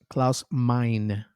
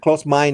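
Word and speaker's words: Klaus Meine: Claus mine. Well, he's he's German. Claus mine. That's that's how you say it in German. But close mine in English.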